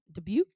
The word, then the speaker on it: Dubuque: Dubuque?